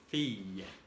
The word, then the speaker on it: fille: Ahora, la I y dos L. No son doble L, no tenemos una letra como ustedes, que es la doble L, solamente son tres letras, I, L, L, que se pronuncia también como la doble L del español.